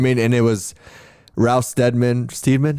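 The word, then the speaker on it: Steadman: mean, and it was Ralph Steedman. How do you know how to say it? I think it's Stedman. I but never know. Everybody I ever He's, hear say it is say it as Stedman.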